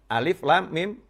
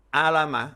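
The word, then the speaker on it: الم: Kita misalnya baru belajar membaca, tahu ada tulisan alam nasroh sama alif, lam, mim. Disandingkan alif, lam, mim. Karena tulisannya juga sama, alif, lam, ketemu mim. Di surat yang lain, alam nasroh, alif, lam, mim, nasroh.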